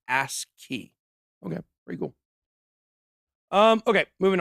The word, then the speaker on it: ASCII: This is pronounced ASCII, they say. Like ASCII.